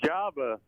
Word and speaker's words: Jabba: no you got it it's jabba all right beards wrote java like the coffee which i it's been just no java like like the hut oh beards is a